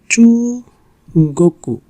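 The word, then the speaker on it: 中国: Chu, goku. Chu, goku. So here is not koku. So chu, goku. That means China.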